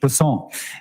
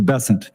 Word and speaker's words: Bessent: Cassidy um Mr bant I'm always going to pronounce your name as if it was in south Louisiana and I'm going to pronounce it with a French bant as opposed to bessent that's with those folks in South Carolina do um I'll try let